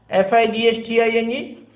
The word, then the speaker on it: fighting: Even in फाइटिंग we don't pronounce GH.